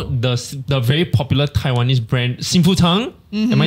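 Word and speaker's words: Xing Fu Tang: You know, the very popular Taiwanese brand, Sinfu Tang?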